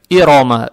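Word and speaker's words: إِرَمَ: Аят начинается на алиф с хамзой и касрой. Касру произносим мягко, как есть и. Далее стоит буква ро с фатхой. Фатха приобретает оттенок о. Ро читается твердо. Иро. Иро. Иро.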